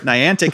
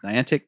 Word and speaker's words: Niantic: to pronounce this name is it niantic niantic neon tick uh the company antique niantic is how i would say it um there was just an announcement that nintendo is partnering with niantic to create some new